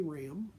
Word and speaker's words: Raham: living world again my name is ram the stands for by the way the last name is spelled -a-h-a-m learn more about my writing and